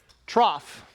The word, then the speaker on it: trough: Trough is now spelled T-R-O-F-F. Trough is how that's pronounced and spelled.